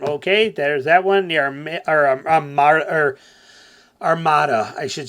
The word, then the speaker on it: Armada: cuz oh my God heaven forbid I call it an armid yet I lived into next to a city in Michigan for most of my life called armid spelled the same way Armada okay I don't have to call it Armada all the time okay get over it